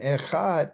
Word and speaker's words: Echad: And Echad is spelled, I'm about to show you, right here. The Eh is represented by this Aleph in the, what, the tent wall. And then the Dalet.